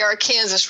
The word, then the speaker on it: Arkansas: I will forever in my mind see C-O-K-E, even though it's spelled K-O-C. Right. And it's the Arkansas River, too, by the way.